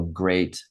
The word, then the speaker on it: grate: meaning, but in English, we say this word like grating cheese the same way we say great, like great job. We say it the exact same way.